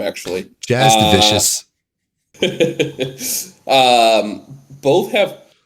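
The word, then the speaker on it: Jasudavicius: Yeah, I'm taking Juzavicius as well. That's how you pronounce her name, actually. Jazz Devicious.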